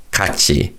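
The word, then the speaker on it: 같이: So again this is read kaci kachi. So do keep in mind of the tachim followed by the syllable e and the tachim being pronounced as a ch sound.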